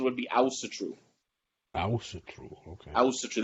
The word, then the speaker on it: Asatru: technically I'm American so I say Asatru the actual pronunciation would be ousted true I was so sure that's the Icelandic pronunciation but I'm not as